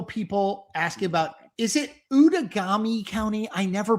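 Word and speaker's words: Outagamie: but this is like you know outagami out of gamy out of gamy it's how pronounced out and hong hong is ahead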